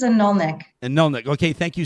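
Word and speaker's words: Anirniq: Am I doing okay in pronouncing your ward, by the way, Councillor Rutherford? It's a Nulnik.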